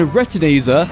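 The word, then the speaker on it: Retinazer: And retineer, I've been saying it wrong this whole time. I thought there was an extra T in there.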